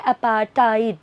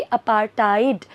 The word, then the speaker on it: apartheid: Basically इसको pronounce करते हैं अपार्टाइड. Okay, अपार्टाइड.